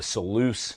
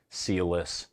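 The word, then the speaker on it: Selous: bro the seleuse scouts I think that's how you say it's so loose I heard a British guy like with a British accent say seleuse and therefore in my mind that's the correct way to say it but I've heard people say like sealless sellless whatever I don't care that's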